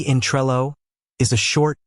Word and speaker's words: Trello: some areas you might hear a slightly softer o sound almost like a uh so it might sound closer to Trella this isn't necessarily wrong it's just a regional accent think about how people